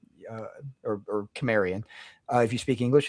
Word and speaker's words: Cimmerian: And as far as we know Howard did pronounce it with the soft C and Cimmerian Cimmerian.